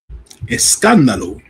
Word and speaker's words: Escándalo: Saturday Night Main Event to I did not pronounce it, Verano de Escandalo. That's how you say it, Jim? Escándalo. Escandalo.